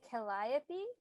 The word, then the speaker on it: Calliope: named caglio caglio i don't know how to pronounce that is it calliope calliope is how you spell it i don't